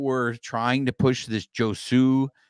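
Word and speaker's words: Josué: And so it is Josue. So good job, Juan. Thank you. So, so a big thank you to Tim Rogers there, because on the broadcast, they were pronouncing it as Josue.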